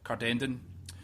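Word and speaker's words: Cardenden: I couldn't really work out how to pronounce it, but it's Cardendon, when he was very young with his family.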